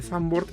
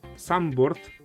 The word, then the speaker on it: Zandvoort: De hecho, Zandvoort viene de que en realidad se pronuncia Zandvoort, pero no soy alemán, perdón, no soy holandés, así que no te podría decir exactamente.